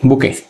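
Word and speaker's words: bouquet: তোলাকে বলা হয় বুকে এই বুকে বানানটা কিন্তু ইন্টারেস্টিং বি ও ইউ টি ই এ টি বুকে বাংলায় বলবো আমরা বুকে এটা দেখতে বুকের মত।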